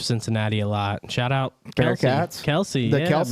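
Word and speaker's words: Kelce: was talking about how the last name was Kels, but when he was drafted, they pronounced it Kelsey, and he never They fucking never corrected him. Yeah, they never Yeah. corrected it. So when Travis come in, like he just went with Kelsey.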